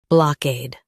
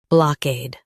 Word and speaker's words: blockade: block ade, blockade Stress cade and keep block soft. It's quick. block ade, blockade Stress cade and keep block soft. It's quick. block ade, blockade Stress cade and keep block soft.